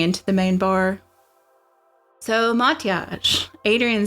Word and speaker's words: Mathias: Mathias. Think mot with an ah sound and stress yage like you say garage.